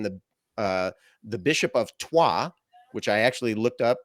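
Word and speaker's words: Troyes: around that time the uh the bishop of Tua which I actually looked up that's how you pronounce it the bishop of trois labeled it a cunningly painted hoax second uh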